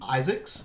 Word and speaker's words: Izaakse: Marvel has an artist named Sean Isaakse, is how it's pronounced, but it's spelled Izaakse.